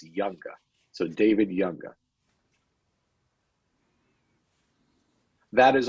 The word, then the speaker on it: Junga: a hold of me my last name is spelled Ju nga and it's pronounced like the J is of why it's younger so David younger that